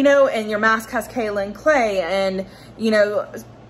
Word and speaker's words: kaolin: So kaolin clay, or kaolin, people pronounce it differently. I say kaolin clay.